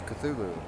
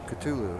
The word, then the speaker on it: Cthulhu: the name cthulhu cthulhu so apparently that's cthulhu ctulu however you want to pronounce it here's that figurine